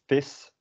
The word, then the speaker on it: vis: So the first one, vis, is kind of the same sound as miss, and translation is fish.